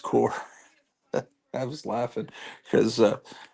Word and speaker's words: Corps: Green Lantern core and by the way it's pronounced core I was laughing because a sheep Comic Collector kept saying Green Lantern corpse that wouldn't be a